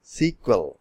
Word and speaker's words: SQL: data base व्ट इस एसकल एसकल pronounce S सीक्वल इ एन क्रोनि म